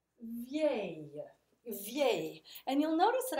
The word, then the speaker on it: vieille: Belle, nouvelle, vieille. Okay? So let's pronounce them together. Beau, belle, belle, nouveau, nouvelle, nouvelle, vieux, vieille, vieille.